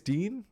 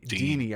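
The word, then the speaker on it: Digne: say his name uh Dean Deanie I think Deanie was the other one I heard Deanie and then digy and then Dean Dean's good I think Dean's fine it's French Dean Dean uh so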